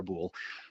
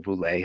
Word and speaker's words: Boulle: on a novel by Pierre Boulle, or Boulle, however you like to pronounce it.